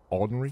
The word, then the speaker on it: ordinary: Ordinary? Fine. You should be able to do at least that much. I hate when people skip that syllable.